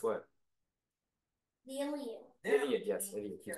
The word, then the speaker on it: Iliad: Pronounce what? The Iliad. Iliad, yes, Iliad.